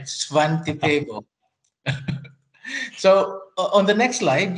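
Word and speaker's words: Svante Pääbo: Svante Paabo.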